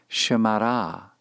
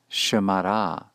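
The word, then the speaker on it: שְׁמָרָהּ: To say he guarded her or it, feminine singular, shemara, shemara. Notice the mapik in the he to indicate that this is an entire idea or concept of its own, that is, the third feminine singular pronoun.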